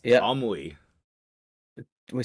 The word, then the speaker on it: Tomoe: It's like you're pronouncing the Oh. O and the E like an O and an E. That's how you would say it in Japanese. Tomoi. Oh, Tomoe.